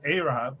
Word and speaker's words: Arab: Chat is kind of quiet, you know, but says it's not Arab, it's pronounced Arab, which is a good reminder.